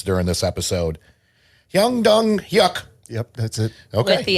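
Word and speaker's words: Hwang Dong-hyuk: the last name I try to even remotely pronounce during this episode y dong yuck yep that's it okay the accent nice yeah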